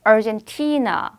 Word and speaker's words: Argentina: 그래서 아르헨티나 발음인데 T의 강세 다시 한번 해볼게요, 여러분. 아르헨티나. 다시 한번 Argentina.